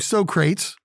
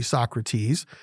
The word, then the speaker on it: Socrates: from a guy named Socrates actually Socrates but if you are a fan of Bill and Ted's Excellent Adventure like I am they pronounced it so crates but Socrates moaned about